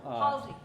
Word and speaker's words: Halsway: It's spelt like you should say Halsway, but it's pronounced Halsey.